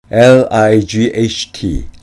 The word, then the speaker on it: light: 즉 가벼운이라는 뜻이 됩니다 라이트에 있는 gh wat에 있는 gh 둘 다 발음이 안 되는 것에 주의하셔야 합니다 for example 예를 들어